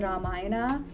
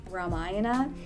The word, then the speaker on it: Ramayana: say certain Indian words, I would pronounce it properly, like the Ramayana versus Ramayana.